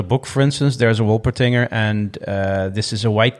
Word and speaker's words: Wolpertinger: It's called a Wolpertinger a Wolpertinger. Wolpertinger, yes, Wolpertinger, indeed. yeah, right. And in this particular book, for instance, there's a Wolpertinger, and this is a white cat with duck wings and antlers, right?